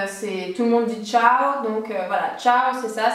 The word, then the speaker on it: ciao: le plus connu c'est tout le monde dit ciao donc voilà ciao c'est ça c'est vraiment l'exemple typique donc le son t se fait uniquement devant deux lettres c'est le I et le E donc ciao ça s'écrit C I a o et donc vous